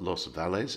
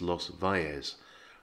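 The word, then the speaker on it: Los Valles: one in is because the double l sound in spanish is pronounced like a y so it's not los vales it's los vales the word for chicken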